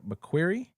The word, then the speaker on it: McQuarrie: It was a series by Lee Child and is directed by Christopher McQuarrie.